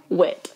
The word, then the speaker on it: Witt: have to ask like 80 times how to spell it. Like, and my name. Mm-hmm. Yeah. So Okay. Witt.